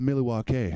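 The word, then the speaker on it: Milwaukee: laser beams attached to their heads it's actually pronounced Milly walk' which is Algonquin for the good lands we're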